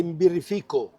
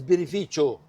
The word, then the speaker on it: Birrificio: It's not the the the the most common misspelling is that they you say Birrifico. No, it's Birrificio. Birrificio.